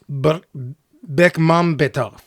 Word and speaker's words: Bekmambetov: It's tempting me, Ted, to try to pronounce that last name. You want to give it a shot? Bekmambetov.